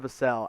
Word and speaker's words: Vassell: And my first-round guy is the pick from the San Antonio Spurs, Devin Vassell out of Florida State. And yes, it's pronounced Vassell, not Vassell, as I was so mistakenly wrong about for so long.